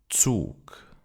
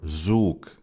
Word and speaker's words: Zug: For example, so instead of Zoo or Zug instead of Zug. But that's not correct. The German Z is always pronounced ts.